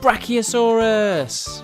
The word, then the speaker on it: Brachiosaurus: Let's learn all about Brachiosaurus.